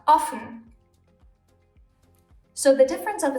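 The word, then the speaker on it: offen: O is long orphan if we add another F to it the O suddenly becomes short and we have often so the difference of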